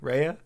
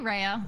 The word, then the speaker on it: Rhea: to make sure that what did you decide on the pronunciation? Rhea. Rhea. Actually, Rhea sounds way better when you say it. Man. Let's say Rhea.